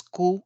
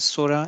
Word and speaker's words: 空: Sky heaven or imperial this character which is pronounced as KU in onyomi and Sora in kunyami May mean Sky vacuum emptiness or